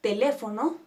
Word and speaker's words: teléfono: sin importar su terminación la palabra teléfono se divide en cuatro t lefo no y acentuamos en le que es nuestra antepenúltima sílaba No importa que terminen